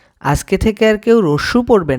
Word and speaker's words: আ: অ আরেকবার পড়ো অ আ সঠিক উচ্চারণ হবে আ কেউ স্বরে আ পড়বা না আমার সাথে আবার পড়ো